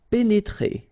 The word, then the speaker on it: pénétrer: pénétrer. Okay, remember here, accent aigu and then accent aigu. So you pronounce it E. Pénétrer.